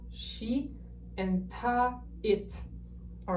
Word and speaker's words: 他: The pronunciation is not going to change for these three options, but the character is going to change, as you can see on screen.